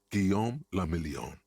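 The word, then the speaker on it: Guillaume Le Million: meant only one thing guillaume lamillion if it doesn't rhyme you're not pronouncing it right like strawberry swirl of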